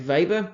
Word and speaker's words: Weber: Weber called his German I think they pronounce the W like a V Max Weber one of the grandfather's